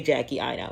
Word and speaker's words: Jackie Aina: I'll put little asterisks, but I meant to say Jackie Aina. My apologies. It's pronounced Jackie Aina.